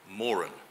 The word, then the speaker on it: Moran: of the 2019 Doug Morin national portrait prize and the usual gentle reminder the family name is pronounced Morin so just before we